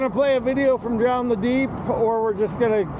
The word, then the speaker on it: Drown the Deep: Say Drown the Deep. Not John.